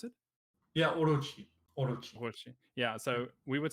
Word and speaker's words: Orochi: name like you you uh how do you pronounce it yeah orochi yeah so we would say oh because it's